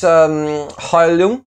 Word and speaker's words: Heilung: So this is Heilung. That's how you pronounce it properly. It's German, by the sounds of it.